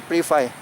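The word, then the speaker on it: ปรีไฟ: ก็ มา ได้ เมือง ปรี ฟา ปรี ไฟ ปรี ไฟ ออก เสียง ปรี แปล ว่า ป่า เป็น เมือง ที่ อยู่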